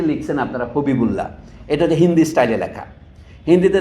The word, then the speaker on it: হবিবুল্লাহ: মোহাম্মদ হাবিবুল্লার অনুবাদের পার্থক্য এটাই আচ্ছা আবু মোহাম্মদ হাবিবুল্লাহ নামটা ছিল আদিতে এবিএম হাবিবুল্লাহ লক্ষ্য করেছেন এখানে দুটো মন্তব্য করি তার সময় এই যে লিখছেন আপনারা হবিবুল্লাহ এটা হিন্দি স্টাইলে লেখা হিন্দিতে দেখেন সালমান খানকে